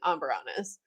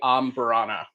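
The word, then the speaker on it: Amburana: I I've had really great ombberanas and I've had really polarizing amberanas.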